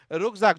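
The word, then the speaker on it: Rucksack: ये इसका pronunciation German में रुकज़ाक होता है।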